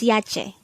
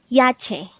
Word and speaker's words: 야채: Yache. Yache. This is pronounced as a two-syllable word. The first syllable is ya, the second syllable is che.